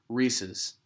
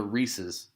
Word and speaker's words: Reese's: Some people say Reese's, which is just completely idiotic. There's an apostrophe S. There's a guy named Reese, and the candy is his. Those are Reese's cups.